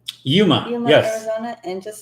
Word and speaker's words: Yuma: Yuma.